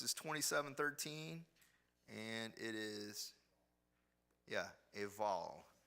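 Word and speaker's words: Ebal: The reference is 27:13, and it is, Eval. You pronounce it with a V sound.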